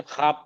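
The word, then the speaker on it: خواب: वाव silent रहता है जैसे हम ख्वाब ही करते हैं लेकिन ख्वाब पढ़ते हैं वाव साइलेंट रहता है इसी तरह ख्वाहिश है ख्वाहिश नहीं बोला आपकी ख्वाहिश क्या है?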